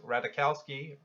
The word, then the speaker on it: Ratajkowski: such as Emily Ratajkowski radical ski don't think the Jays pronounce french kowski but praised the candidate